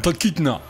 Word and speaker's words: Talkeetna: C'était à Talkeetna, en Alaska. Je suis pas sûr de ta prononciation. Ouais, prends-toi. Talkeetna.